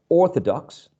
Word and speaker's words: orthodox: prefixes, I know that a prefix does not attract the stress, so I know that the pronunciation is orthodox, orthodox. So I attach the prefix unorthodox, never unorthodox.